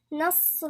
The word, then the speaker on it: نصر: نصر الله، نص، نا نرقق، لان في ناس تنطقها نا لا، عشان الصاد اللي بعدها مفخمة فاحنا بنفخم النون، ده غلط. النون مرققة والصاد مفخمة.